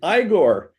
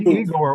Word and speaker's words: Igor: supposed to be Eigor, wasn't it? Yeah, exactly. It's Igor.